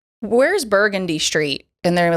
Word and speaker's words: Burgundy: So today's Louisiana word of the day is? Burgundy. Okay. Which everywhere else in America is? Burgundy.